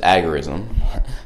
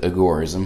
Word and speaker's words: agorism: be discussing agorism what is agorism some people pronounce it agorism most people pronounce it agorism uh Sam conin pronounced it agorism who is Sam Conan well he he started